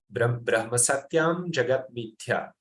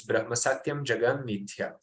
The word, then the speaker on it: Brahma Satyam Jagat Mithya: Sometimes it's spelled Brahma Satyam Jagat Mithya. Brahma Satyam Jagat Mithya. But it is written with an M, so it's Brahma Satyam Jagat Mithya. It's a part of this